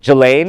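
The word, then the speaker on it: Ghislaine: Jane.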